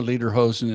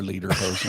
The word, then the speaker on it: lederhosen: well, we wore lederhosen and everything. Later, hoser. You did it up right. Yeah, That's the only way I could learn how to say it was say later, hoser.